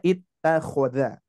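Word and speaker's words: اتخذ: Nah, ini pun juga ittakhoda, ya. Terus berikutnya sama, ini pun juga Bapak Ibu sekalian dibaca i karena huruf ketiganya berharokat fathah.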